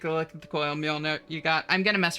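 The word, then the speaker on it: Mjölnir: Surely you know the J is silent. No, it's a Mjolnir.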